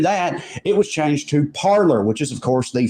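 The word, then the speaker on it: Parler: about it is hilarious it was originally pronounced parlay the french pronunciation but when these scholars who they purposefully market themselves to refuse to do that it was changed to parlor which is of course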